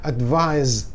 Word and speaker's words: advise: Advise, bacanya advise, pakai Z, ya, bacanya.